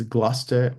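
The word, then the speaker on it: Gloucester: s t r uh there's gluster which is the same way which is spelled g l o u c s t r or some semblance of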